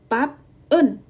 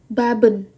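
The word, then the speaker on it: 밥은: Nah, dia kalau seandainya kita melihat dari bacimnya, seharusnya kita bacanya bab un. Oke, teman-teman lihat di sini ya. Jadi seharusnya kan bab un karena dia dua suku kata yang berbeda. Nah, tapi karena dalam hal ini dia itu ibaratnya adalah setelah konsonan ini adalah vokal, maka bukan pap en bacanya, tapi langsung digabung. Jadinya baben.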